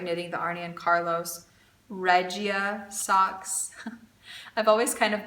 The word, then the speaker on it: Regia: work with Regia, and they call Regia Regia. So just because it's a German brand doesn't mean that their name has to be pronounced, you know, with a German tongue.